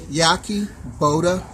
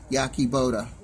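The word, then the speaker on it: Yahe Boda: Once again, my name is spelled Y-A-H-E. Last name is spelled B-O-D-A. Yaki Boda.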